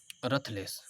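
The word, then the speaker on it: ruthless: अब 13 number words है रथलेस। रथलेस को कोई कोई रुथलेस भी पढ़ता है, ठीक है। आप लोग का जो है जो प्रोनाउंसिएशन हो, लेकिन दोनों सही है, रूथलेस और रथलेस।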